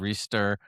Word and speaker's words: ReSTIR: Are you pronouncing that correctly? Restir. Yeah, I talked about restir last no, time. you're right. It's like capital STIR.